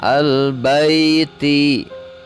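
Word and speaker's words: الْبَيْت: Ditulisnya al-baiti. Ketika wakaf maka dibacanya al-bait.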